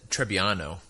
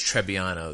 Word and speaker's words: Trebbiano: So I would say, how did you pronounce the grape again? I said Trebbiano.